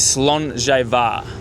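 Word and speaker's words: Slàinte Mhath: But, the proper way to say it uh is Slainte Var.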